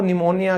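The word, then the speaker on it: pneumonia: मैं साइलेंट हो जाता हूं। जैसे बीमारी थी ना वो निमोनिया किसी को सर्दी जुकाम होने के बाद होता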